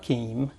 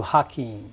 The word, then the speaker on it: Hakeem: you changed it to hakeim yes what happened uh I didn't really change it the the cor correct pronunciation okay that was the correct pronunciation is with h okay okay and then